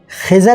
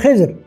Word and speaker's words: خضر: اے یعنی اے خضر۔ ایک بات رہ گئی کہ خضر کو بعض جگہ خضر بھی استعمال کیا گیا۔ ایک بزرگ آتے ہیں مسجد میں، یہاں پڑھ رہے ہیں خضر اور وہاں خضر، اور کہیں تلفظ اس کا خضر بھی ہے، لیکن وہ اردو میں عام طور پہ رائج نہیں ہے۔ اے تیری چشم جہاں